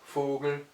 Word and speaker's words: Vogel: F comme en français, mais avec un V qui en allemand se prononce toujours V, et ces mots-là sont alors prononcés F alors qu'ils sont orthographiés avec V.